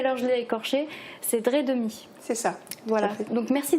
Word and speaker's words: Dreidemy: Alors, que je prononce bien cette fois-ci, parce que tout à l'heure je l'ai écorché, c'est Dredemi.